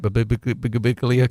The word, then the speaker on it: Birbiglia: Suicide Squad out this week, as well as Don't Think Twice in limited theaters, and you got your interview with Mike Birbiglia coming.